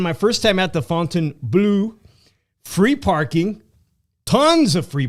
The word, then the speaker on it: Fontainebleau: I think they said Fontainebleau. Fontainebleau. I've been going around saying Fontainebleau. That's what I thought it was. Fontainebleau. It's kind of ghetto. It's Fontainebleau. Nonetheless, man, my first time at the Fontainebleau, free parking, tons of free parking, bro.